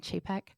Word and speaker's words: Chapek: Bob Chapek, I think that's how you say it, like chafing Chapek.